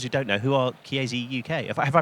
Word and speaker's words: Chiesi: For those who don't know, who are Chiesi UK? Have I pronounced that right? Sorry. Yes, you have. Excellent, Chiesi.